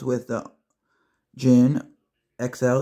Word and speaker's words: Djinn: gear today we have knife sounds with the Jin XL it's spelled DJ i n n and it is